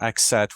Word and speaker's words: Axat: town of axat so axat with the the T that you pronounce we learned that yes I know this one so this one I know for a fact it's aat yes and uh so that